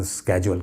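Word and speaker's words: schedule: शेड्यूल जिसे कह लें, मतलब दोनों के अलग अलग प्रोनाउंसिएशन है, ब्रिटिश और अमेरिकन का फ़र्क है। ब्रिटिशर्स आमतौर पे शेड्यूल कहते हैं और अमेरिकन स्केड्यूल कहते हैं।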